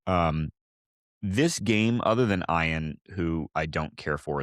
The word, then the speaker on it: Ian: What kind of name is Ion? Like like from Ian. Okay. Not Ion. No. No. But this pod will not be referring to anybody that's name is spelled I A N as anything but Ian. So that's it. You'll call him Ian.